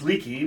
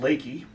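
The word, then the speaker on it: Leakey: a little town that looks like it should pronounce leaky but for some reason known only to texans it's called lakey there are several features that make this such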